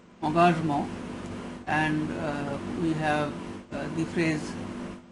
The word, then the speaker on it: engagement: In French it is pronounced engagement, and we have the phrase engaged literature or littérature engagée.